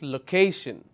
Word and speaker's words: location: three syllables location and I will stress on the second syllable which is location so why am i